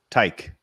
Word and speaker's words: Teich: show how do you say your last name tyke tyke yep and then your call sign is